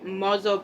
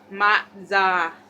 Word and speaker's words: matza: Matzo balls, pronounced matza, not matzo, a traditional Passover delicacy,